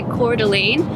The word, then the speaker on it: Coeur d'Alene: finished my thought when I started to say Coeur d'Alene I found out that's how you say it